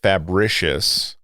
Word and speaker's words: Fabricius: beyond ancient civilizations there's so again it's called fabricious yep and that is spelled f-h just as it sounds r-i-c-i-u-s yes